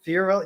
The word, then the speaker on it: Fiorello: Fiorello, you got it on the first try.